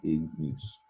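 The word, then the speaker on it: ignis: And that G, you hear it. It's hard G sound, ignus.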